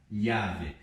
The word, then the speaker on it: llave: E aqui nós lemos da seguinte forma, não vamos ler como LH, llave.